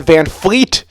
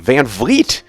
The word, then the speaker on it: VanVleet: For my whole life, or ever since I became aware of Fred, I always thought it was Fred VanVleet with an F. And only a couple days ago, I'm like, VanVleet with a V.